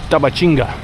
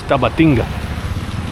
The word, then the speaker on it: Tabatinga: Now we are going walking to Brazil, to Tabatinga. Brazilians, they pronounce Tabatinga, and Colombians, they pronounce Tabatinga. You can choose whatever you want, but I speak both languages, so I prefer Tabatinga because it's a Brazilian city.